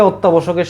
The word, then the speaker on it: অত্যাবশ্যক: শোক অত্যাবশ্যক এই যে অত্যাবশ্যকের সঠিক উচ্চারণ অত্যাবশ্যক নক্ষত্র কে নক্ষত্র বলছিলা